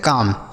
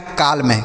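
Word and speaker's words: calm: इसे हम पढ़ते हैं काम। क्या पढ़ते हैं? काम। देखिए यहां पर एल साइलेंट है।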